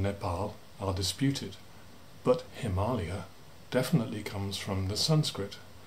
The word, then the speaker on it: Himalaya: origins of the name nepal are disputed but himalaya definitely comes from the sanskrit the aliyah the